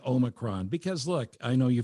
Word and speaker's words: omicron: Uh, so the emphasis is on the first syllable. So it's omccron, not oh my cron.